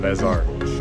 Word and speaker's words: Les Arches: I would take off at 3:16 to Les Arches. That's how you say it. Les Arches. There's no A.